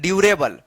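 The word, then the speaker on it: durable: डी यू यू आर ए बी एल इ डी यू आर ए बी एल ड्यूरेबल।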